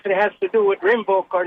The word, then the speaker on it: Rinvoq: Can you spell it? Yeah, r i n v o q.